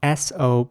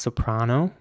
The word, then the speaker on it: soprano: The next word is spelled S-O-P-R-A-N-O. And in British English, this would be pronounced soprano with an R sounding A, once again. And in American English, it would be soprano with an A.